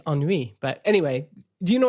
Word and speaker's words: ennui: Because in French it's ennui.